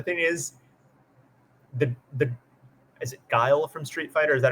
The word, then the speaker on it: Guile: I was, because the thing is, the is it Guile from Street Fighter? Is that how you pronounce it? Guile, yeah.